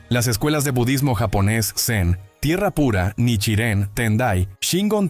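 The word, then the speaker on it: Zen: Incluso el término Sen es simplemente la pronunciación japonesa del carácter chino Chan Shan.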